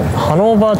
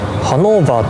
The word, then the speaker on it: ハノーバー: そのような経緯がありますのでハノーバーとはドイツ風の発音をする名前でした。